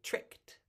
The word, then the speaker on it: tricked: d I know but we pronounce it like it's a t so we say tricked tricked you try it